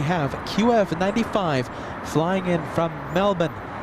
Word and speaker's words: Melbourne: qf95 flying in from Melbourne that's how the locals say it Melbourne us Americans we say Melbourne the locals though trust me they say Melbourne a 13h hour 30